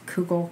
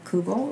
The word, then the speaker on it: kugel: And in reality, like you said, depending on where you're from, mm-hmm. you know, you might pronounce kugel, kugel, or kiggle.